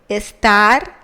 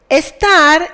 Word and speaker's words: estar: Estar is irregular because of the pronunciation. The intonation is in the last syllable, and that is why some persons in the verbal conjugation have a tilde.